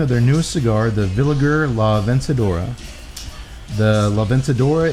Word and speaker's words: Villiger: A lot of people mispronounce it as Villiger Cigars. I always do that. It's not. It's a name. It's a family name. Villiger. Hard G.